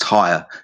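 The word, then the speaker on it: Tyr: So it's pronounced tire.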